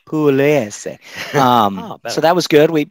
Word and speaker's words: Pugliese: I don't know if the G is silent, so we're gonna have to Pugliese, Pugliese. Yeah, they very, very soft G, I think. Pugliese.